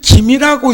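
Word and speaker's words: 金: 하는 것은 금은보와 그물 김이라고 읽는다고 성씨로 할 때는 그냥은 금이라고 하고 금은 뭐 할 때는 금이라 하고 성씨로 얘기할 때는 김씨라고 한다고요 그러면 그 금이라고 하는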